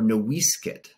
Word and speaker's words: Noisecat: And that meant something, because Noisecat, or Noisecat, as the name was originally pronounced before the missionaries messed it up, it nearly died out.